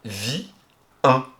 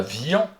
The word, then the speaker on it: vient: On a vie 1. On dit pas vian, on dit vie 1.